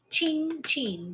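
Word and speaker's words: cin cin: that's what Italians say Italians Say ching chin c-i-n-c-i-n and the c i is pronounced like c h pretty old antiques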